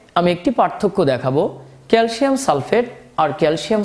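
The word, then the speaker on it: sulfate: ফেট লাস্টে কিন্তু এট উচ্চারণ হচ্ছে, এট, ট। আপনাকে ভালো করে খেয়াল করতে হবে ট আর ড এর পার্থক্য। যখন কোনো যৌগমূলক থাকে না বা এরকম অক্সিজেন নেই তখন কিন্তু ট উচ্চারণ না হয়ে ড উচ্চারণ হবে।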